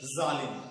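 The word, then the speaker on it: ज़ालिम: परिवर्तन आ जाता है जैसे जालिम शब्द जालिम साधारण भाषा में अगर हम कहे तो जालिम और अगर नुक्ता युक्त जो व्यंजन है उसके साथ अगर इन शब्दों का उच्चारण करें जालिम तो ऐसा प्रतीत होता है घस के साथ उच्चारित हो रहा है इससे पिछले के वीडियो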